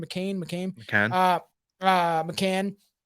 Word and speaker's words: McCann: you don't know in general like Madame Madeline McCain uh right that's her name McCain McCain uh McCann like you said that is just the surface